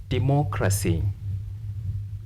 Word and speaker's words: democracy: case if you find words ending in these letters stress anti penultimate stress anti penultimate anti penultimate means before penultimate or third last counting from right or you